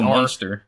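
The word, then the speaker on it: Munster: uh how do you how do you pronounce that one m u n s t e r monster monster ches Monster okay uh cheddar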